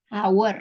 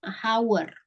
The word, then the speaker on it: hour: Jadi kan itu kan tulisannya emang hour ya. Tapi bacanya bukan hour. Sama kayak honor.